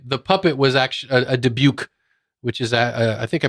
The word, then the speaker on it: dybbuk: evil spirit in Jewish mythology is called a dybbuk and that's that's always a little scarier than